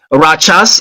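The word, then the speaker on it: Rachas: October the 14th in the village of um Rajas is spelled R A C H A S located in the um Hipang uh district of Biladi County or local government in Nigeria.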